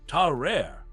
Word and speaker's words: Tarrare: Let me introduce you to Tarrare, pronounced like Tarrare, a French dude from the 1700s who could eat literally anything and everything, and I mean everything.